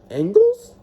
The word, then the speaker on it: Angles: Angles. I have to think that it's supposed to be pronounced as angles like in math.